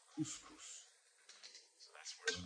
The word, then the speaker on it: couscous: is serving or making a dinner dish that she can't pronounce, so she pronounces it GusGus. And of course the dish is couscous.